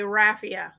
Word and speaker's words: raffia: You're supposed to roll your R when you say Rafia. And it's not a like with your tongue in the front. You're supposed to use the back of your throat.